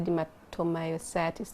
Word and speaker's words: dermatomyositis: You're the one who taught me how to say dermatomyositis.